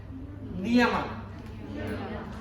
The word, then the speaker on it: Niyama: And then Niyama.